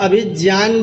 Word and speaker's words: अभिज्ञान: जो है ना, ज्ञान, इसको आप अभिज्ञान बोलेंगे तो ज्यादा अच्छा, क्योंकि वहां पर ज और या दो अक्षर मिलकर के ज्या शब्द बना हुआ है, तो अभिज्ञान बोलेंगे।